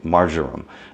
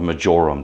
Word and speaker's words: marjoram: You have like that which you would get in, let's say, France, okay, marjoram, or majoram, depending on who's pronouncing it.